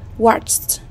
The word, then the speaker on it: watched: Watched. Watched. Đây là âm T.